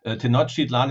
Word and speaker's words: Tenochtitlan: Before we get started, is Tenochtitlan? That's how we pronounce that, correct? Well, actually, nobody knows exactly how it was pronounced, so don't worry about it. And of course, Tenochtitlan is quite good.